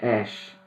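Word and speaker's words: אֵשׁ: temos uma conexão fonética a palavra mulher se pronuncia Iá a palavra homem se pronuncia is a palavra fogo se pronuncia Ash tudo é muito parecido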